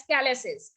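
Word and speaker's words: calyces: उस रीनल पेल्विक्स की, this is known as कैलेसिस, and spelling is CAL, okay, YCES, कैलेसिस।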